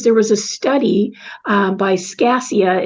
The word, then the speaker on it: Scaccia: Part of my course was there was a study by Scassia, it's spelled SCACCIA, in 2017 on positive thinking and gratitude and the impact on the neuroplasticity of our brains.